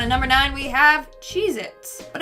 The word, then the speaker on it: Cheez-It: number nine we have cheez-its but apparently that tasty cheese cracker is not called cheez-its it's cheez-it either i've been saying